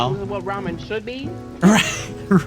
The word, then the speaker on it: ramen: They're like, "Oh, yeah, I know what Raymond is." I'm not. No, but it's ramen.